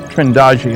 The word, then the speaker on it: Trindade: And here's a sequence from Trindade, Trindade, I'm told it's pronounced, 600 miles east of the coast of Brazil.